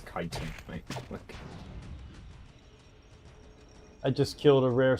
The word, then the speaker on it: chitin: i t i n and they already it chitting it's like no it's kiten I just killed a rare special Elite That